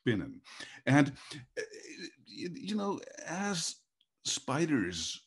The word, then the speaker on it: spinnen: cool word, it's called spinnen. So you have to pronounce it a little bit Yiddish, like schmuck.